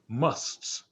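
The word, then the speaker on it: masts: india there are these people called um musts must it's it's spelled m-a-s-t-s and um they're they're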